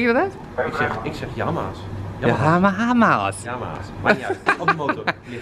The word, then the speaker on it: Yamaha: Hoe spreek je dat uit? Ik zeg Yamaha's.